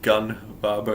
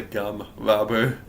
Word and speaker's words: Gum Barber: mispronounced my name and said gun barber as opposed to gum barber.